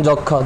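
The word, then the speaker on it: যক্ষ্মা: মর উচ্চারণটা আসে নাই যেমন যক্ষা যক্ষা তো সেম মর উচ্চারণটা আসে নাই খির থেকে তোমার বাউন্স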